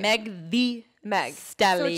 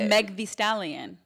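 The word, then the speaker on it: Megan Thee Stallion: Megan the how do you say her name Meg the megallion just Meg no that sounds like Megalodon it's Meg the stallion Meg the stallion is it Megan the stallion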